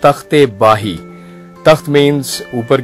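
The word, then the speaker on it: Takht-i-Bahi: The actual name of this site is not Takht Bhai, जिसको लोग अक्सर mispronounce करते हैं। This is not Takht Bhai, this is तख्ते बाही।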